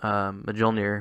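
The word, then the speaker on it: Mjölnir: Thor winds up Mjolnir, which is his hammer, and he throws it. Really, you pronounced the J? I thought it was silent.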